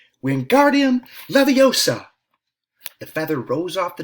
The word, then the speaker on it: Wingardium Leviosa: "Wingardium Leviosa!" he shouted, waving his long arms like a windmill. "You're saying it wrong," Harry heard Hermione snap. "It's Wingardium Leviosa," making the gar nice and long.